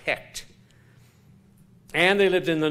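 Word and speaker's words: Heqt: The frog god's name was Hecht, H-E-Q-T. So I presume that's pronounced Hecht.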